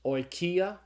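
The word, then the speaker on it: οἰκία: The diphthong omicron upsilon is pronounced like the oi in oil, and so the Greek word is pronounced oikia. Now you notice I said oikia. Okay, there's a clue that it's not oikia, it's oikia. It's a long iota.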